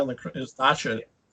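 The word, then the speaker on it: Dacha: Just Dasha and the is Dasha. Dasha, not Dasha. Dasha. Get my pronunciation right.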